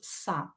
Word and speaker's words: с: In the context, we will pronounce it as sa.